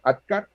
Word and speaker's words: ADKAR: Claro, la K de ADKAR viene de knowledge en inglés, porque es un acrónimo en inglés, pero se pronuncia igual, ADKAR, alerta, deseo, conocimiento, aptitud con P y reforzamiento.